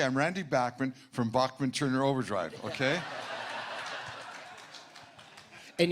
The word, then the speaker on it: Bachman: I know a lot of people, I had people challenging me when I said Bachman the first time, and I said, no, I promise.